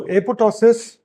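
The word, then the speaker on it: apoptosis: So apotosis and mind it the second P is silent.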